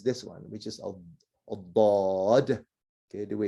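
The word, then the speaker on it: ضاد: toughest one, of course, is this one, which is a bod. Okay, the way it's pronounced.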